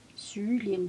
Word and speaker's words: cerulean: cerulean blue. That's how you say it. You say it exactly like that. Cerulean blue.